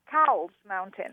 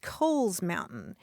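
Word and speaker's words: Cowles Mountain: that mountain c w L mhm I would pronounce it cow's mountain right right I know and that's that's my problem because properly that mountain is pronounced Kohl's Mountain it was named for a guy whose last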